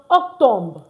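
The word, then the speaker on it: octobre: And October is pronounced octombre.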